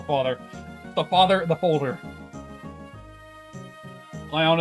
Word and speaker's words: Lyon: the father the folder lyon is a french city name so pronouncing it in the french accent makes sense oh so more like